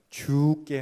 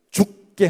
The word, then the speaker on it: 주께: 주께 하듯 살자고 다짐했습니다 제가 발음을 잘 해야 된다고 그랬죠 주께 하듯 대하지 죽게 하면 안 된다고 그랬죠 한번 따라해서 해보실까요 주께 하듯 이게요 너무 힘을 세게 주면 죽게 하듯이 돼요 근데 힘을 좀 빼고 부드럽게 말하면 죽게 하듯이